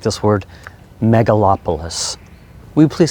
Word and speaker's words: megalopolis: really like this word megalopolis would you please say it with me mega lop a lis i guess it's four syllables mega lop a list